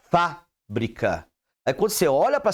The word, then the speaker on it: fábrica: pra sua escrita correto Quando você vê o acento no fa você vai falará fábrica aí quando você olha